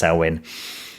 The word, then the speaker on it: Samhain: gaelic druidic festival of sarwin it's spelt samhain but it's pronounced sauwen and that heralded the